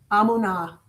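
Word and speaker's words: emunah: hyphen m O O hyphen N A H amuna a muna amuna means what?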